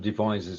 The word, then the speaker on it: Devizes: got it I didn't treat you good your pronunciation of Devizes is perfect oh good yeah and we have